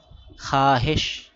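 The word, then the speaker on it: خواہش: Silent wow পড়তে হবে না খাব অর্থ স্বপ্ন খাহেশ খাওয়া হেশ ছিল ওয়াও সাইলেন্ট এজন্য খাহেশ খাহেশ অর্থ ইচ্ছা।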